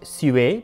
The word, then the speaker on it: sewer: Possibly and hopefully pronounced sué, because it was French, but it was the